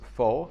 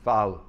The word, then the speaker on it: pho: Now, this is a bowl of, I've been told that this is not, Europeans pronounce this pho, but it's not, and Vietnamese pronounce it phao.